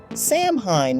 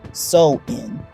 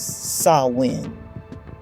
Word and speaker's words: Samhain: fact for English speakers Sam Hine might look like it should be pronounced as it's spelled but in Irish and Scottish gelic it's actually pronounced so in or sometimes sawin over 2,000 years ago